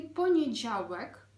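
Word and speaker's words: poniedziałek: він іде поніджелі поніджаувек коли ми вимовляємо це слово то у нас з'являється декілька труднощів поніджавек м'який звук Ж а також літера в дуже чітко потрібно вимовляти це слово і Головне не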